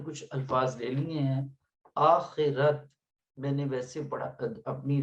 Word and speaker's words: آخرت: زیادہ بن سکتے ہیں۔ آخرت، آخرت، یہ خے کے نیچے زیر ہے اور رے پر زبر ہے تو پڑھا جائے گا آخرت بھی پڑھ لیتے ہیں اس کو، لیکن آخرت زیادہ بہتر ہے پورے تلفظ کے ساتھ پڑھنا.